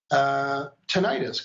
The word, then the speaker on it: tinnitus: Tinnitus, can you tell us about that? Have you worked with that? And am I pronouncing it correctly?